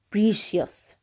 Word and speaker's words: precious: Precious. Precious. ثمين. Precious. Also the CI is pronounced sh.